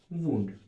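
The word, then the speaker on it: wound: Heal and repairing of वूंड। वूंड मतलब घाव को कैसे रिपेयर करती है? वूंड। सही स्पेलिंग लिखा होगा भाई।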